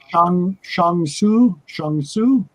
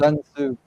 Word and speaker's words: Sun Tzu: with the Red Book by, I'm going to pronounce that incorrectly, Jeff. You can correct me. Shang Tzu. You know, the Art of War. Yeah, the Art of War, the Red Book. Sun Tzu.